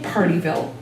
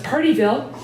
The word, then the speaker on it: Pardeeville: They were a couple in Partyville, which is spelled Pardeeville. If you've got a Wisconsin accent, it comes out as Partyville, and intrigues tourists.